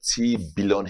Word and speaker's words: Tiibilon: Yeah, we call Tiibilon Healthcare Foundation. Tiibilon Healthcare Foundation. Is that billion? It's billion. Oh, billion. Yeah, it sounds like billion.